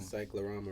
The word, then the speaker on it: cyclorama: psychorama. Cyclorama room. See that? Oh, so we both wrong. Why I gotta spell it?